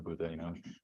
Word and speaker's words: Buddha: in Hindi to the Buddha. Rather than calling him Buddha, they're calling Buddha, is the way they say it in Hindi. They take off the last syllable.